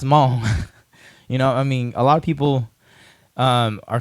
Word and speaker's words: Hmong: I guess the first one is, how do you pronounce Hmong? A lot of people are confused because the H in Hmong is silent.